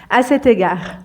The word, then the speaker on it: à cet égard: égard à cet égard on fait la liaison entre C et égard à cet égard donc on l'utilise pour